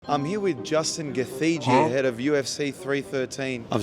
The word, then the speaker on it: Gaethje: Not Gaethje. No, it's Gaethje.